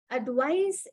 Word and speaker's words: advice: started so now otherwise when I say advice the S sound okay advice is a noun advice